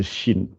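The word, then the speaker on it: شين: Voilà, le sin qu'on a déjà vu, il me semble, et le shin. Ça, c'est comme le che en français.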